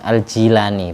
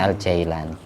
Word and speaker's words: Jilani: Aslinya kalau tulisan Arab kalau ikut Arab yang tepat bikasril jim aljilani bukan aljailani.